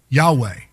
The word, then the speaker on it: Yahweh: The word is Yahweh. Yahweh. It's spelled Y-H-W-H. It's not sounded with with vowel sounds. So it really wasn't to be spoken. But that's God's name. We add an E and an A and say Yahweh.